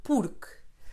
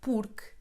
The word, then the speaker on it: porque: Pay attention to the pronunciation of porque. The final E in porque is silent, very different from the Spanish.